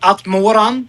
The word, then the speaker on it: Atmoran: Yeah, it's uh like we say at Moran, but it's it's the Dutch way, but that there are there are a lot of pronounces for that.